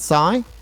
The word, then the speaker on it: Sai: up one thing uh what's your preferred pronunciation of your first name is it Sai that's correct Sai yeah all right Sai now